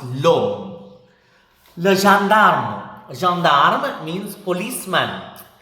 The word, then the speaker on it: l'homme: It begins with a silent H and it ends with an E, but it is masculine. It means man. So, L apostrophe homme, so l'homme. It's pronounced l'homme.